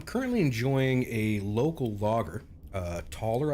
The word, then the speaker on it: Toller: Toller, I believe it's pronounced. T-O-L-L-E-R.